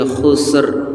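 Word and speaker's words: خسر: Wal asrial insana lafi khusr. Jadi ee huruf ron-nya harus terdengar walaupun pelan. Wal asr r khusr ya can khusus enggak ada rnya enggak boleh harus ada ronya innal insana lafi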